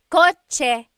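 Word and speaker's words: kotse: In the Tagalog alphabet, there is no letter C in Tagalog. Naturally occurring. The chcha- sound is a ts combination. Coche. car is with a ts spelling.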